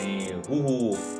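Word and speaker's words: Who's Who: สาย ลับ นะ ครับ CP นะ ฮะ นี่ ฮู้ ฮ เออ อ่าน ว่า ฮู้ ฮู มา ใน ตีม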